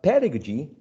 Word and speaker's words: pedagogy: my mistake because um the word pedagogy pedagogy is stressed on the first syllable i am studying english pedagogy at ucl pedigree you are studying english pedagogy right now the adjective pedagogical is stressed on a different syllable right pedagogical pedagogical so